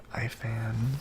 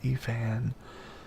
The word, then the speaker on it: Ifan: He's going after Iffin. Everyone pronounces his name differently. Some of them pronounce it like Ifan, some of them pronounce it Efan. I like Iffin.